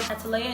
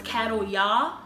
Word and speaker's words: Cataleya: not name my child cataleya is because of the way that is spelled like the first time I saw it I thought it was cattle yah and I was a